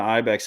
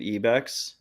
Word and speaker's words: Ibex: there like so like I'm wearing the Ibex hat actually I found out like we're supposed to be pronouncing it eex but like that I've